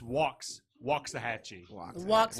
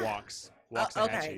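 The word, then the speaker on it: Waxahachie: you say this it's walks walks a Hatchy hat yep I know the wax throws you off but it's walks walks hat so really tonight we're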